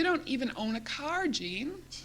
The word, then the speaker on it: Jeanne: even own a car Gene Gene since I've dropped the IE and my name has only one syllable now so I explained